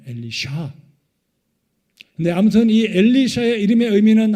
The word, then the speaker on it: 엘리사: 엘리사의 이름의 정확한 발음은 히브리 발음으로 엘리샤입니다. 엘리샤.